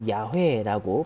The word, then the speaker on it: 야훼: 그렇기 때문에 이 단어는 야훼라고 발음을 해야 되는데 그 이유는 성경의 외적인 자료들에서도 찾을 수가 있지요.